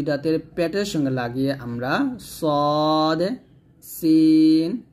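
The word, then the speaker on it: ص: মাঝে এইখানে লাগিয়ে আমরা সদ মোটা উচ্চারণ করব, সিন যে পাতলা উচ্চারণ করব।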